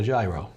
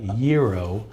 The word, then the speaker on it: gyro: if you're Americanized you might call it a gyro but in Greece and other locations they'll look at you and say I don't know what a gyro is so we say it's a Euro which is the proper way of pronouncing it